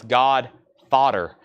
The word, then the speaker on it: God Fodder: Ned's Atomic Dustbin and no I'm not mispronouncing that that's God fodder 39.99 that is Ned's